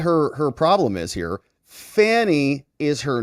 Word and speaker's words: Fani: her problem is here Fanny is her name okay it's spelled f a n i it's Fanny and she is the